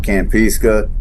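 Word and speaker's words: Kampeska: you got like uh Camp peace Camp pesca campiska k-a-m-p-e-s-k-a which is the third largest lake in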